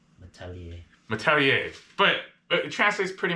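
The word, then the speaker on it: Malletier: Apparently, if it's T-I-E-R, you're supposed to pronounce it yay. Metalier.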